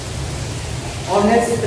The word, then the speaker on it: honest: Suppose that ऑनेस्ट मैन, HONEST, ऑनेस्ट मैन. तो इसके पहले h here consonant, but sound here और pronunciation here ऑनेस्ट.